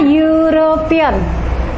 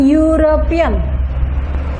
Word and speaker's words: European: Tetapi pronunciation-nya, sound-nya adalah huruf mati. Ini kita baca European. Lebih dekat lagi kelihatan European. Ya, ini dibaca Y.